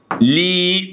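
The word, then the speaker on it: gli: يبقى النهارده خلي بالك الجي ال اي دو مع بعض بيتنطقوا ايه ليه بيتنطقوا ايه ليه زي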